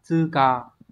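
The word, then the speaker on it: 通過: Đọc là tư cờ.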